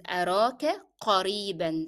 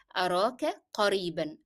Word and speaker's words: قريبا: It is أراك قريبا, that is soon, and that is the n sound in قريبا is part of the pronunciation of the word, so you cannot drop it as you stop. You have to say it with the tanween.